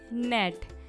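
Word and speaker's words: gnat: ये जो वर्ड है इसमें जो G लेटर है वो साइलेंट है। तो हमें ऐसे वर्ड ढूंढने हैं जिसमें G लेटर साइलेंट हो। तो हमारा नेक्स्ट वर्ड होगा फॉरेन। फॉरेन मीन्स होता है विदेश, जिसमें G है वो क्या है, साइलेंट।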